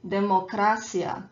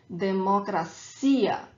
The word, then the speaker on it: democracia: English word democracy, and a lot of people say democracia, especially Spanish speakers, but this is not how we pronounce this word. We pronounce it democracia. So the strong syllable, the stronger syllable is the last one, democracia.